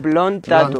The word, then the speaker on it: Blond Tattoo: Lo he pronunciado bien, Blond Tatu. Blond Tatu, sí, correcto, hermano.